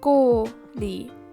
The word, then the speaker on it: kooli: But basically, to make it simple, in the example of kool, kooli, kooli, the third case the like stress, I would say, is on the first syllable. Like kooli, torti.